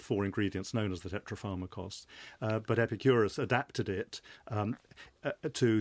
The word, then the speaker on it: tetrapharmakos: David Sedley, Epicurus encapsulated his core beliefs in a formulation known as tetrapharmakos. Is that how you pronounce that it?